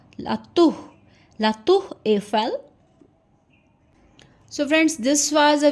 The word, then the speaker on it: La Tour Eiffel: So La Tour Eiffel, La Tour, R is pronounced as H, La Tour Eiffel.